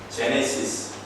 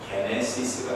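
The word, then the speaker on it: γένεσις: 제네시스, 영어식 발음이죠. 근데 이 말을 신약 성경이 기록될 때 사용된 원어인 그리스어식으로 발음을 하면은 게네시스가 됩니다.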